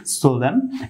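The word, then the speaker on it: solemn: না তো সেই সুবাদে আমরা এই ওয়ার্ডটি সঠিক উচ্চারণ করতে পারি সোলেম এর পরবর্তী এখানে দ্বিতীয় ক্ষেত্রেও যে ওয়ার্ডটি দেখতে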